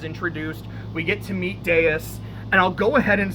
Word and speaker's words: Deus: We get to meet Deus. And I'll go ahead and say right now, it's a name that I often pronounce, like while reading it, I often just pronounced as Deuce. I know that's wrong.